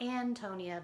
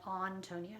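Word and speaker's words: Ántonia: antonia so um not antonia but on tonya that's why there's a little mark there and she's european and so they wouldn't have used the a sound anyway so um the introduction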